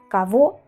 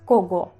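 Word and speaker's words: кого: Ejemplos similares de la g que que pasa la vemos cabo. Cabo, por ejemplo, coge. Si lo leemos literalmente es cogo, ¿vale? Pero es cabo.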